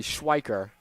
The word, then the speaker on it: Schweiker: So Evan Cornwall, that big 1-out double, has led now to the Eagles threatening for more against Schwelker here. Excuse me, Schweiker.